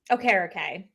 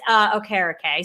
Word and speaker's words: Okereke: Okereke.